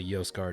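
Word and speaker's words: Mjosgard: think it's m-j-o-s-g-a-r-d uh i guess you don't pronounce the m it's a yoast guard or something like that um but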